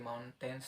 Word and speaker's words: mountains: seperti mountains tadi.